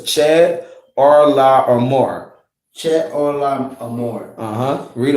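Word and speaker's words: Chedorlaomer: Just pronounce each one the way it's broken down. So it's Chad, Arla, or More.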